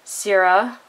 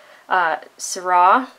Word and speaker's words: Syrah: is dye mine Zaira I've heard it called or Sarah or Syrah I have grown up in the California wine valley I've heard the wine pronounced Syrah so that is how I'm going to pronounce it just because that's sort